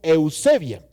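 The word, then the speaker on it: εὐσέβεια: La palabra piedad viene de una raíz griega que se llama o se pronuncia como eusebia.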